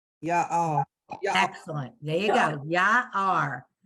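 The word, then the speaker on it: יער: Ya-ar. Everybody see why she said ya-ar? Because the ion is silent. It has the ah, but it connects to the r. So it's ya-ar.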